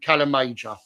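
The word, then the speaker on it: Calamajor: So, Mior is spelled M A. Calam Major.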